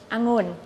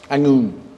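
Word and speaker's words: องุ่น: So these are Thai tongue twisters that foreigners find hard to pronounce. The first one means grape or budo in Japanese. It's angun. Angun.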